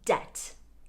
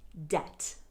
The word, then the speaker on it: debt: that all checks mispronounce there's no b just leave out the b debt debt usually we are in